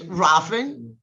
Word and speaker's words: Rohlfing: It's Rohlfing. Theresa Rohlfing, one of my favorite directors.